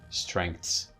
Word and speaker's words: strengths: This is actually pronounced like this, strengths. So although technically it should be this one, it should be this, strengths, but there is an epenthesis of k here, strengths, but it is often pronounced strengths.